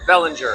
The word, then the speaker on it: Bellinger: Is it Bellinger? Bellinger, that's right.